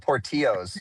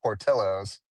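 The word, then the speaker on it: Portillo's: I used to call it portillos because we don't pronounce L's in in California.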